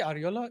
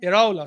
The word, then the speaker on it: Iraola: Did I say Ariola? Iraola, sorry.